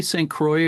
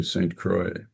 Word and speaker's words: St. Croix: Do you say Saint Croix or do you say the French pronunciation Saint Croix? How do you pronounce it? We do the Midwest pronunciation, so we say St. Croix.